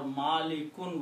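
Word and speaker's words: مالكٌ: So if I just put an alif between the first and second letters and pronounce them like this, Ma Li Kun. Always in the noun, the last letter will have two dhammas on it. Two pesh. And it will pronounce the sound of noon.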